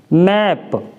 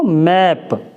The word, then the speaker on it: map: जैसे MAP, मैप, तो यहाँ पे क्या पढ़ेंगे? इसको मैप, माप नहीं पढ़ेंगे।